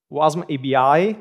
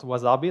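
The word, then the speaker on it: WasmAbi: and yeah yeah well first of all it's pronounced wasm ebi not Wasabi like I did the first time so let's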